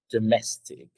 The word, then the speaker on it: domestic: Right, and where is the stress in the word domestic? The second syllable. Exactly. That's why we say domestic, domestic, domestic. So the mess part is okay, is really loud, right?